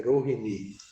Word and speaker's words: Rohini: Agora, Bhagavata, a pronúncia certa é Rohini, ok?